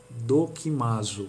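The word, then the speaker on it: δοκιμάζω: carta aos Coríntios discernimento em grego se diz dokimazo a pronúncia justamente esta dokimazo é do que margem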